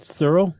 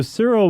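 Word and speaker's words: Searle: was syntax and Cyril so how do you pronounce it Cyril Cyril that's what I'm going with s-e-a-r-l-e Cyril Cyril uh here you say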